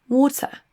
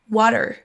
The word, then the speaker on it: water: Le mot O se prononce avec un son choix à la fin. Water. Water ou pour l'accent américain water water.